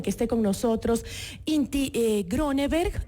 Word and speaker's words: Gronneberg: 3:40 y justamente nos acompaña, tenemos el gusto de que esté con nosotros Inti Grönenberg. ¿Sí lo digo bien el apellido? ¿Grönenberg? De hecho, pronuncias bastante bien el noruego, debo decir.